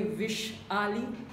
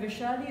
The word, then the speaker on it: Vaishali: by the opposite person they either call me wish Alec or they can be anyways but what I can understand from my father is that Vaishali is a great personality